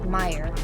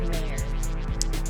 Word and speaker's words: Oscar Mayer: commercials for this brand the pronunciation of oscar meyer in this song is just that mire and not mayor number three on my